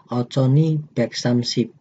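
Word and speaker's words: 오천이백삼십: Kenapa dibaca demikian? Karena ada nien di bawah, itu bacim nien bertemu dengan huruf vokal. Jadi dibacanya nien ini pindah atau mengisi yang pelengkap yang ada di vokal I.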